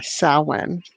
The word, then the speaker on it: Samhain: And so I did find that, and it is, although it's spelled Samhain, Samhain, and I've heard it pronounced other ways, but yeah, Samhain.